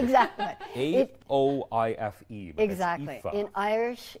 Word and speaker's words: Aoife: A-O-I-F-E. Exactly. In Irish, it's pronounced Aoife, but okay.